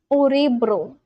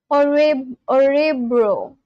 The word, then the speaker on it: Örebro: Orebro. How do you pronounce this? I feel like the O is pronounced in like a different way and it's not O.